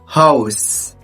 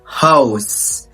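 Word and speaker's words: Haus: على سبيل المثال معانا اول مقطع اللي هو الا او اه وبيتنطق او او ثم يشبيل اوتو اوتو يعني سياره اوضه هاوس هاوس شايف النطق بيجي ازاي هاوس حرف الاو معلومات نطق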